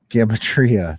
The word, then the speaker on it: Gematria: I feel like, yeah, whatever that gadootery, gadtrimia, or whatever that weird Gematria. number system. Thank you. Knew somebody would know it. Uh, Gematria.